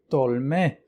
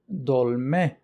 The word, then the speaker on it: dolme: The Kurmanji pronunciation is dolme or dolme.